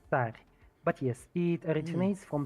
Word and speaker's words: Tsar: I mean, Technically, it is pronounced Tsar, but yes, it originates from the word Caesar, yeah, which like technically Julius originally Caesar.